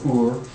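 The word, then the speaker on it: úr: of uru sort or Ur uhuh Ur would be how pronounce it in Icelandic so Urus would be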